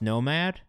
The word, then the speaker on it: NMXD: All right, so as you guys can see, it's pronounced nomad.